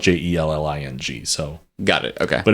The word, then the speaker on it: Jelling: the town of uh I think I'm probably actually pronouncing this wrong of jelling in Denmark cuz J's in Danish language are actually usually pronounced with like kind of like a y sound so it might be like a um like a I don't want to say yelling but it might be a little bit more close to